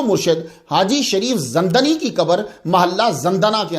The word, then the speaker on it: زندنی: رہا ہوں۔ تو زندنی، اس کا صحیح تلفظ جو ہے وہ زندنی ہے، زندنی نہیں ہے، اکثر زندانی یا زندنی بولتے ہیں، یہ زندنی ہے۔ ویسے زندنا سے اس